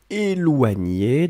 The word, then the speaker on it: éloigner: Je voulais juste qu'on se concentre ici sur la façon d'écrire éloigner. Donc, E, accent aigu, L-O-I-G-N-E-R. Nier, nier. Éloigner.